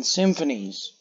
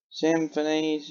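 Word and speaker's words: simfphys: Symphonies, yeah, that's how you say it, I think. Because it's got S-I-M-F-P-H-Y-S. It's a weird way to spell it.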